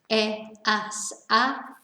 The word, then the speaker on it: he: is the h verb remember we don't pronounce the h so it's e and then with our